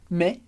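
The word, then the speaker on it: mais: e você sabe que a gente pronuncia me porque a gente tem o s no final que a gente não lê e o ai como Regra geral tem som de E então i me I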